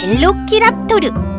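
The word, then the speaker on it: Velociraptor: 그건 바로 날쌘 도둑이란 이름을 가진 벨로키랍토르. 영어 발음으론 벨로시랩터라고도 하지.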